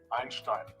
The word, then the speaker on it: Einstein: He pronounces perfectly. It's Einstein.